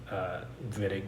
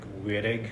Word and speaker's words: Wittig: people mispronounce this like weird egg reagent this is a German name so the W is pronounced as a v you can complain to